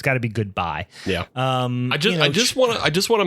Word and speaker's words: GoodBi: So I would imagine it's pronounced GoodBi. Is that fair to say? I would say it's GoodBi, and I've confirmed this with myself because the